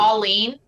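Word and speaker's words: Pawline: Pauline, but it's spelled P-A-W.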